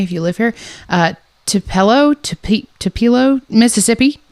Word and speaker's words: Tupelo: Uh he was born in uh I don't know exactly how to pronounce it so please don't come for me if you live here. Uh Tupelo Ti Tupilo Mississippi. Tupilo. Tupelo t u p e l o.